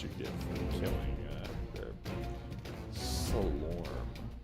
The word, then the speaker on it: Slorm: We have 560 slur, which you get from killing their Slorm. I always say slur. Why? This word that's not a word, I keep mispronouncing it.